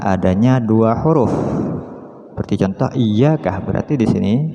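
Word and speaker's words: إِيَّاكَ: dua huruf seperti contoh Iyakah berarti di sini tasdid di sini menunjukkan adanya dua ya ya yang pertama mati yang kedua hidup jadi bacanya iyaka iyaka iyaka na'budu wa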